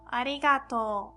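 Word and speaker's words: ありがとう: That's to and u at the end, but because of o, u sound, we pronounce like long o sound. So, arigato, arigato.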